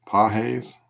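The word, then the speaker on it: Pagés: Got a light blue sparkle Andy Pahes. Pahes. some y'all corrected me last time I butchered his name and a Tristan Casus for the Red Sox.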